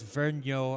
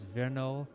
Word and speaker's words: Vergnaud: I'm pronouncing that right I don't think it's Vero I think it's vno but well we can